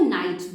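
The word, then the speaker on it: knight: आई जी एच टी इसमें जो के होता है वो साइलेंट होता है इसलिए हम इसको नाइट बोलते हैं के एन आई जी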